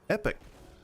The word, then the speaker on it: epoch: about epochs, they're pronounced epoch in this game. Like, I think they pronounce it in those fields epic. I think it's pronounced like epic, like the word epic, but just E-P-O-C-H.